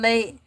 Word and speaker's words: ELAY: My name is LA, pronounced like LA, like the city on that front there.